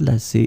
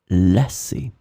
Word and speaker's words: lasser: So remember that these two verbs can be pronounced the same way.